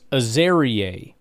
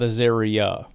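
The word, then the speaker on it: Azareye'h: It's Aerier. Aerier Thomas, not Azeria.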